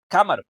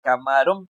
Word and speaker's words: camarón: La sílaba tónica se encuentra, viene siendo la primera. O sea, la sílaba más, la que suena más fuerte es la primera. Por lo tanto, está sonando como cámaro, cámaro. Pero yo no quiero decir cámaro, yo quiero decir camarón.